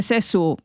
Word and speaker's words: Sessue: Y como os he dicho antes, los guiris esto de Sessú te lo pronuncian como yo te diga y al final terminó la cosa en Sessue.